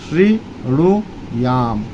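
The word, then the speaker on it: शृणुयाम: होगा अलग-अलग अलग बोले श्री णु याम तीन बार अलग-अलग बोले और एक साथ मिलाकर बोले श्रीणु याम श्रीणु याम देवा अब इसको मिलाकर बोलेंगे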